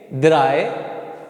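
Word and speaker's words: drei: ध्यान रखना उस चीज की ए और इ आएगा उसकी आवाज कैसी निकलेगी अपने इंग्लिश के आई जैसी निकलेगी कैसी निकलेगी इंग्लिश के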